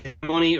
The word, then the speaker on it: hegemony: They don't care if you say hegemony or hegemony. I can't even say it right. Hegemony or hegemony? It just depends on which syllable you put the emphasis.